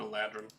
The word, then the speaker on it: Eladrin: Eladrin. How do you Best- spell that? Like Aladdin, but Aladrin.